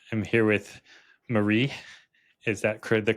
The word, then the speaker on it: Marie: I'm here with Marie. Is that the correct pronunciation? It's not Mary.